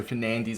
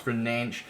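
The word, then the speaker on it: Fernandes: name let me know similar to fernandez and the fact they don't say it how you know it's not pronounced how would usually pronounce it so fernandez is pronounced for nanch etc etc so i'm terrible with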